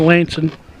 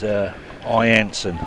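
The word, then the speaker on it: I'Anson: I think it's Ianson, I think it's pronounced. Is it? I with an apostrophe. I with an apostrophe. Yep. Ianson. Yep. All right. Apologies there. Thought it was an L.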